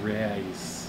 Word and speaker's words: Ryse: power of Rome rise it's pronounced rise yeah spell it right